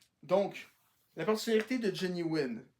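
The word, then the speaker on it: Huynh: Johnny Wynn. Ça s'écrit pas W-I-N, mais H-U-Y-N-H, vu qu'il y a des origines vietnamiennes, comme j'ai dit.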